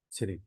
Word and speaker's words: Tsering: Tsering. Sering. T is silent.